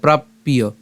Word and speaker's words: প্রাপ্য: জফলা থাকলে কি হবে উচ্চারণ ইয় হবে তাহলে উচ্চারণটা কেমন হচ্ছে প্রাপ্য এই প্রাপ এবং জফলা কারণ হচ্ছে ইয় তাহলে প্রাপ্পিয় এরপর শুভাশুভম এরপরের লাইনে নাভি নন্দীতি নাভি নন্দী